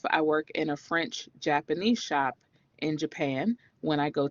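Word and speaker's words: shoppe: just really cute it's shop shop is s-h-o-p-p-e it's spelled a French way and gal is g-a-l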